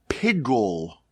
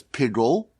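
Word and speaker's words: piggul: sacrifice is now disqualified it's known as pigle I guess it's you would spell it P i g g u l pigle i don't know if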